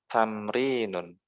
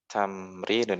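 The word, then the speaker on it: تمرين: Nah, di halaman selanjutnya ada tamrinun. tamrinun. Ini walaupun nggak ada harokatnya, tapi dibacanya tamrinun.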